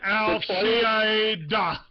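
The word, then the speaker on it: al-Qaeda: Let's pronounce that correctly. Al Qaeda.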